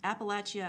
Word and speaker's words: Appalachia: Yes, Appalachia, I think I said it wrong the first time.